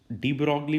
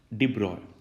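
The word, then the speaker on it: de Broglie: डी ब्रॉगली भी बोलते हैं कुछ लोग, बट एक्चुअली प्रोनाउंसिएशन क्या रहेगा उसका? डी ब्रॉय।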